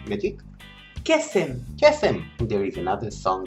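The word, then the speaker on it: קסם: Kesem.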